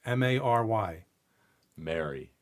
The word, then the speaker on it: Mary: differences there but ironically most of the US people pronounce the name Mary and we'll say merry as in Merry Christmas the same way however if you're from